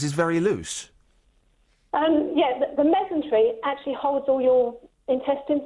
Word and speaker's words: mesentery: But have you ever heard of a mesentery? You what? Mesentery. A mesentery?